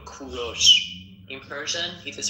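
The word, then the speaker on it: کوروش: English people call him Cyrus. But in Persian we call him Kuros. In Persian it is pronounced Kuros, but in English you call them call him Cyrus.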